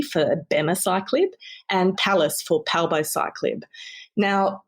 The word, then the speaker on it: abemaciclib: So they don't have a soft C, do they? No, it's everything is abemaciclib, it would be.